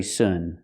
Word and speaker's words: soon: I'll see you very soon very soon we have to change the pronunciation we have to say soon make the ooh sound like Moon soon ooh make the